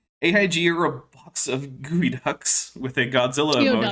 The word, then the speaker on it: geoduck: are a box of gooey ducks with a Godzilla emoji. Geoduck. No, it's gooey duck. It's not pronounced the way it's written.